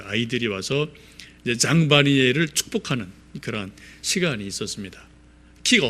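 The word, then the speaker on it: Jean Vanier: 그분의 가장 중요한 분이 장 바니에라는 분이 계세요. 이름이 조금 어렵죠. 장 바니에, 잘못하면 장바구니 이렇게 좀 발음이 될 수 있는데, 장 바니에라는 분이 계시는데,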